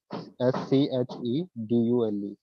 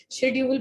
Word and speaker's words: schedule: Yes, SCHEDULE. schedule या schedule भी बोल सकते हैं आप, इसको जुल भी बोल सकते हैं, ड्यूल भी बोल सकते हैं. शेड्यूल बिल्कुल इनकरेक्ट प्रोनाउंसिएशन है, तो शेड्यूल मत किया करिए.